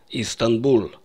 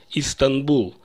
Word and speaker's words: Стамбул: Истанбул. Это город в Турции. Принято по-русски произносить название как Стамбул.